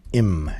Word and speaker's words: 임: And uh today we are doing the ninth heavenly stem which is pronounced in Sino Korean im.